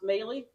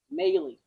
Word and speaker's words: Moehle: The last name is pronounced Moehle, so everybody understands. Moehle. Gage Black got it right. Even my own training partner doesn't know my last name. Moehle.